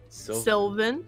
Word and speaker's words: Sylvan: is Siflin. He has name. Oh no, I don't think you're saying it right. What was it again? Sylvan Sylvan.